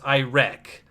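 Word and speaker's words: Irek: What's interesting is that he is the dictator of a nation known as Iraq, which is spelled I-R-E-K, and is therefore Iraq.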